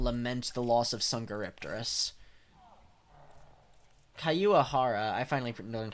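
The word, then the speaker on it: Caiuajara: Kayuahara. I finally learned how to say it from the thing up there. If you press it. Kayuajara. I feel like I'm used to kind of pronouncing it as har.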